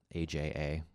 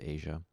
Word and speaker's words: Aja: asia asia asia asia aja i believe it's meant to be pronounced asia um definite dad vibe